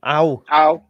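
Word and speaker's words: Ao: If Tanaka? You pronounce it Ow.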